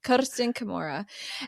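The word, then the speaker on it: Kersten Kimura: schooled me on how to say her name Ken Kamura and uh she has been on the podcast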